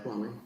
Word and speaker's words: Kwame: It's Kwame.